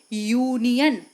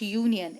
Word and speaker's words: union: a before union okay union it's not union it's union y u this sound is coming while we are pronouncing the word okay similarly university similarly university